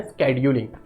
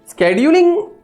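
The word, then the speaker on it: schedule: क्या है ठीक है प्रोनाउंस में शेड्यूल स्केड्यूल दोनों बोल सकते हो हालांकि शेड्यूल जो बोलते हैं सी के थोड़े से हायर पीच के साथ वो थोड़ा सही प्रोनंसिएशन है तो स्केड्यूल आज आपका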